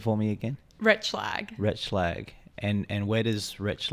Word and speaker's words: Retschlag: I asked you your surname but can you pronounce it for me again Rich flag richlag and and where does Rich lag originate from